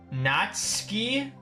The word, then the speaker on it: Natsuki: with them wait what natsuki is pronounced natski huh wait what